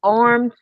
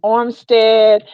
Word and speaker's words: Armstead: amazing there was Darren Woodson there was Jesse armed armed I said his name wrong in the interview Armstead Dion Meyers there was a basketball coach of